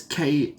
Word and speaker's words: Kassie: Is it, Cassie? It's Kassie.